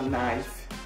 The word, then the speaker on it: knife: This is a knife. Knife. O K é mudo, então a gente só pronuncia knife.